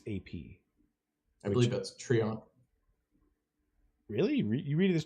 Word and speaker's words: Treant: But yeah, if Trent was cast by this last X turns, that's what you said.